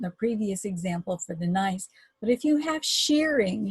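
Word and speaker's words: gneiss: have a metamorphic rock nice and that spelled G and EISs the G is silent so grant it on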